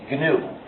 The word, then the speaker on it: GNU: But when it's the name of our system, the correct pronunciation is GNU, pronounce a hard G.